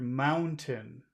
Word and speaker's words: mountain: mountain mountain that's really that's a really hard sound for people to produce if they if they don't if they're not born with it yes it's like a little cough it's like yeah I